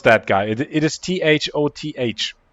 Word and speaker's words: Thoth: It is Thoth. How do you pronounce that?